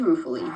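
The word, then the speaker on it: ruefully: So, uh, and how do we pronounce this? What do you think? Wow. Beautiful. Ah, rofully. Perfect. It is rufully.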